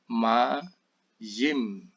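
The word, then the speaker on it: מים: Di sini yodnya sebagai konsonan, ya, ma-yim.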